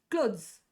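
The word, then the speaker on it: clothes: ಹೆಂಗಾಗುತ್ತೆ ಕ್ಲೋತ್ಸ್ ಕ್ಲೋತ್ಸ್ ಸೋ ಕ್ಲೋತ್ಸ್ ಅನ್ನ ಈತರ ಓದಬೇಕು ಕ್ಲಾತ್ಸ್ ಅಲ್ಲ ಕ್ಲಾತ್ಸ್ ಅಲ್ಲ ಇದು ರಾಂಗ್ ಇದು ಕರೆಕ್ಟ್ ಇದು ಥಿಂಗಲ್ ಬಂದಾಗ ಕ್ಲಾತ್ ಕ್ಲಾತ್ that is ಥ but plural ಕ್ಲಾತ್ಸ್ ಅಂತ ಬಂದಾಗ ಕ್ಲಾತ್ಸ್ ದ ಮತ್ತೆ ಜ ನ ನಾವು ಒಟ್ಟಿಗೆ ಪ್ರೊನೌನ್ಸ್ ಮಾಡ್ತೀವಿ so this is wrong ಕ್ಲಾತ್ಸ್ ಅಂತ ಹೇಳಿ ನಾವು ಯೂಸ್ ಮಾಡ್ತೀವಿ ದಿಸ್ ಇಸ್ ರಾಂಗ್ ಈತರ ಸ ಯೂಸ್ ಮಾಡಲ್ಲ ಪ್ಲುರಲ್ ಬಂದಾಗ ಪ್ಲುರಲ್ ಬಂದಾಗ ಅರ್ಥ ಆಗ್ತಿದ್ಯಾ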